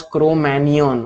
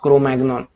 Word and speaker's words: Cro-Magnon: Now, this is pronounced as Cro-Magnon, okay, it is not Cro-Magnon.